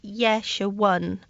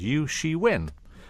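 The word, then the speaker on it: Ye Shiwen: name this name is yesh 1 it's quite straightforward after you after you understand about Hanyu pinyin i'm Hanyu pinyin is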